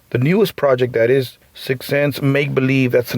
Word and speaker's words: SickSense: Sixth Sense is spelled sick. SICKSENSE. Sixth Sense. It's not like Nikki Six SIXX. It's not like that. So it's sick, like if you're feeling sick, and then sense.